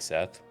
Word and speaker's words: Seath: Uh, so typically I just say it's pronounced like Seth or Seth, like Seth to scaleless because that's kind of where the name came from originally.